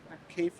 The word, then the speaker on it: Kepha: Kepha, I'll have you spell it in a second.